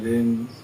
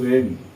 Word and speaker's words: reign: রাজ্য, REIGN রেন, REIGN রেন। এর উচ্চারণ কিন্তু রেন, রিজাইন না, সরি, রাজ্য।